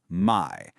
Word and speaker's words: 買: This character is pronounced my and its meaning today is just to buy.